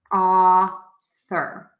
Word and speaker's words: author: the word author same thing we're going to pronounce that as ah sir so author and ah guest okay great so